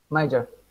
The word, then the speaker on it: major: so try it major major yep mugger no no may like me if the months of May major mind you that's it yeah even though we say majesty we say major welcome to English pronunciation